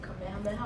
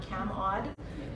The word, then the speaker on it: Kamehameha: my biggest thing is to teach them to say kamehameha auditorium and not cam odd which is what it's